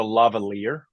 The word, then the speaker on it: lavalier: So the mic is called a lavalier, and so Lavalier.